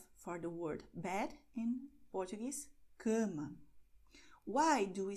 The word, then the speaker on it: cama: So you have to do the same thing that you do in English when you say English, but you have to, wow, make it with gusto, okay?